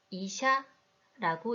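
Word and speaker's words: 医者: 먼저 야의 크기부터 볼까요? 네, 앞의 두 글자와 달리 야의 크기가 작습니다. 그래서 이 단어는 이샤라고 읽고 의사를 뜻합니다. 끝의 두 글자 시와 야가 하나의 글자로 취급되어 하나의 소리를 만든 것이죠. 그래서 이샤, 이박이 됩니다.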